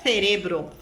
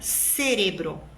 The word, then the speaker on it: cerebro: cérebro em espanhol cerebro o espanhol diria cerebro um colombiano cerebro Então esse é o famoso ceeo quando a letra z e a sílaba C seguida de e e seguida de I tem som de s não tem o som interdental do espanhol da Espanha muito bem os colombianos